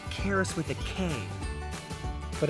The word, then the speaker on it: Charis: 70 locations whoa now let's go check this chairs thing out No Charis Charis no like Karis with a cane but it's spelled with a ch charis no listen it's